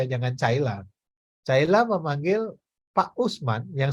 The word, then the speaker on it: Caila: Kan anak-anak bacanya Caila bukan Kaila. Makanya kalau Kaila mending pakai K aja, jangan Caila.